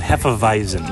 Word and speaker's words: Hefeweizen: A Hefeweizen. Hefeweizen. However, say it right. If you're going to be a fan, Hefeweizen.